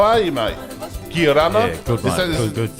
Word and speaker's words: Kia orana: Kia rana? Yeah, good, mate. Good. Is that how you say it in Cookie? Just kia rana? Yeah, kia orana.